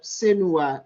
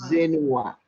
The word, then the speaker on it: Senua: Yeah, even the pronunciation, Senua, I had Zenua.